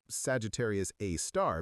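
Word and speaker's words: Sagittarius A*: We call it Sagittarius A star, pronounced Sagittarius A star because astronomers are terrible at naming things.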